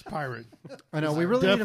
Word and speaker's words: Poirot: I usually spell it wrong, so It's pirate.